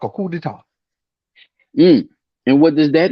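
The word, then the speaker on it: coup d'état: Coup d'etat. A kundata.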